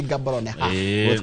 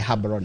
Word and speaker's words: Gaborone: capital city yao ndĩgĩtwo Gaborone ti Gaborone go pronounce ni Gaborone nĩ bũrũri mwega no